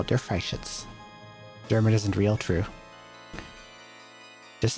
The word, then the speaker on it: Der Freischütz: How the hell do I pronounce this? Der Freischütz. Der Freischütz.